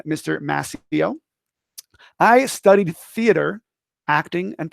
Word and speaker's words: Mascio: First off, hi, my name is Mr. Mascio. Go ahead and say it. You don't have to unmute yourself, but just say it, Mascio. That's how you say it. It's not Mascio. It's not Mascio. And it's Mascio. I always go, Mascio, Mascio, Mascio.